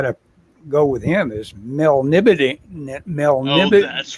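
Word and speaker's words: Melniboné: see Mel know how did I used to pronounce male knee oh yeah Mel knee yeah in n-e-e Mel knee bow boney she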